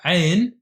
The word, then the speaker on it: Ayn: Then the last but not least is the AYN. The AYN might be hard to pronounce for those who don't speak Assyrian-Aramaic or another Semitic language like Arabic. It's the AYN sound which comes from your throat.